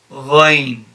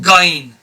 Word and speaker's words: ra: you apply for letterhole so this is just rain and not as many people pronounce it as as bain it's not gain it's rain i personally use this reference